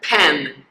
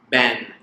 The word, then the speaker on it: pen: حاول تلفظها pen مو ben. Pen مو ben.